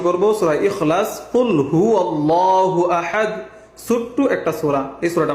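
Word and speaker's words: أَحَدٌ: কুল হু আল্লাহু আহাদ, আহাদ এখানে কি লাস্টে দাল কলকলা।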